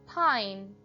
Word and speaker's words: pine: The word pin changes to pine as the silent E makes the vowel say its name. I, p, ine, pine, pin, pine.